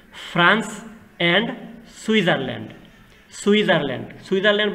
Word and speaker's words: Switzerland: সুইজারল্যান্ড বানানটা একটু খেয়াল করবা, SWITZERLAND, টির কোনো উচ্চারণ নাই, সুইজারল্যান্ড, ফ্রান্স অ্যান্ড সুইজারল্যান্ড, এটুকু লিখলেই হয়ে যাবে।